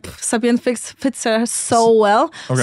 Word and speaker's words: Sabien: So she said that my name is Sabien, because my real name is Sabina.